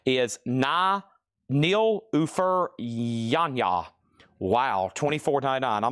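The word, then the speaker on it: Nilüfer Yanya: This one here, thank you, Laura, for the pronunciation, is Nil Ufer Yanya.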